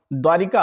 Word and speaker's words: द्वारका: इसी तरीके से आप देखिएगा द्वारिका, आप बोलते हैं द्वारिका, लिखते भी यही है। सही क्या होता है, द्वारका होता है, द्वारका।